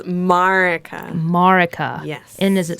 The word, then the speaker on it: Marieke: It's Marieke.